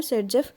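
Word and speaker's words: Saytzeff: ये सेट-जेफ, इनकी प्रोनाउंसिएशन है सेट-जेफ।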